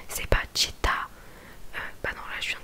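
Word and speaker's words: città: Par exemple, là j'ai un mot sous les yeux, chita, qui veut dire ville. En gros, chita, on appuie sur le A, sur la dernière syllabe, sur le A, et ça s'appelle l'accent tonique.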